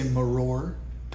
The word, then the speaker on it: maror: equivalents in Hebrew Mar you could just say maror but with an Israeli accent Mar we also have